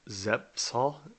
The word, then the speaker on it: Zepf's: at a place called Zepf's, Z-E-P-F, Zepf, I believe is how you pronounce it.